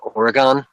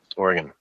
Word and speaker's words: Oregon: I had on, a Bullhorn Barry on Wednesday, and he was talking about, I was calling it Oregon? Kept calling it Oregon, and I just had to be like, dude, Oregon.